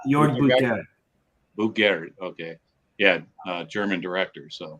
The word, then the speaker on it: Buttgereit: I can't pronounce his name. Buttigieg? Jörg Buttgereit. Buttgereit.